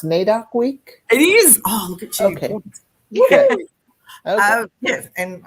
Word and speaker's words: NAIDOC: we are talking to anissa about is it pronounced nadoc week it is okay and i've got my